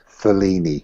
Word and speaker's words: Mfuleni: It's Mama Amelia's in Fellini, which is MFU. Well, it doesn't matter. MFULENI, Fellini with a silent M.